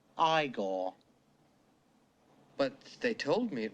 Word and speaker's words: Igor: it's Frederick Frankenstein I see you must be eigor now it's pronounced igore but they told me it was eagor well they were wrong then weren't they it's